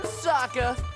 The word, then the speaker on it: Sokka: That's right, I'm Sokka. It's pronounced with an aka.